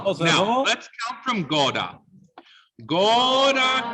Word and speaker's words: sposerò: long syllable of the word is on what syllable? The troverò. Good. So say for me, troverò. Troverò. Troverò. Sposerò. Now, Sposerò.